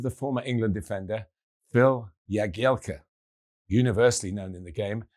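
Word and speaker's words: Jagielka: That of the former England defender Phil Yagielka. Universally known in the game as Jaguar. Phil came up with a simple solution. He told his family, who used the correct Polish pronunciation, that Jaggy Elka is his stage name, and there aren't many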